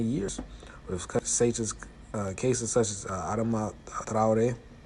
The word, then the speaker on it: Adama Traoré: with cases such as Adama Traoré. That's how you really pronounce it, but in English they pronounce it Adama Traoré.